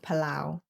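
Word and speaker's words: Palau: Well, not quite secret now that I'm pronouncing it, but I would love to go to this country called Palao.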